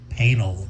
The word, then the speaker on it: Painal: Painal rhymes with anal.